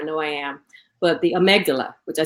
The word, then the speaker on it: amygdala: it wrong, I know I am, but the amygdala, which I said it right.